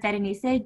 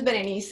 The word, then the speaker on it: Berenice: Well, my name, for those who are non-Spanish speakers, it's a combination of the word Berenice, and then you drop the R and you drop the S, and it's just Berenice.